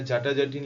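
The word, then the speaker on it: জাট-জাটিন: চাকুয়া সামা চাকুয়া বিদিশা এটা জাটাজাটিন লেখা আছে এটা একচুয়ালি জাট জাটিন উচ্চারণ হয় বাংলায় যাই হোক জাট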